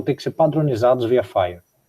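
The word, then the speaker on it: FHIR: de comunicação de dados chamado Fire é esse Fire que vai ser adotado como se escreve físico H mas é Fire que o pessoal chama né é esse é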